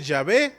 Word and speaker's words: Yahvé: De hecho es impronunciable, lo pronunciamos Yahvé porque es la única manera de pronunciarlo.